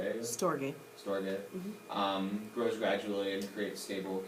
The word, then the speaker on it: storge: I think it's pronounced Storge. Storge.